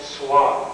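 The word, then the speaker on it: Xuan: the same way um the woman is named Swan that's spelled xua n pronounced with the S she was brought up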